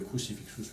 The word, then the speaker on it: crucifixus: Crucifixus, ce serait la prononciation française, crucifixus avec le tche, c'est la prononciation à l'italienne qui est la vraie prononciation qu'on appelait liturgique.